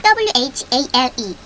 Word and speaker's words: whale: WHALE whale이 되죠. whale. H는 발음이 나지 않습니다.